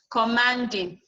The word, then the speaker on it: commanding: Commanding, the man will be what? Will be stressed.